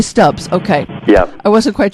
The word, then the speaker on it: Stubbs: am I is do you pronounce your last name Stoops or stubs you say stubs okay yeah I wasn't